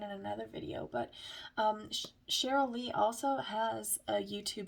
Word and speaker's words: Cheryl: through her website but cheryl lee harnish spelled like cherry instead of you know sh but it's cheryly